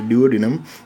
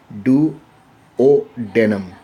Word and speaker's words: duodenum: first region is many a time we are pronouncing this as duodenum but actually it is do o denim it is actually we should pronounce this as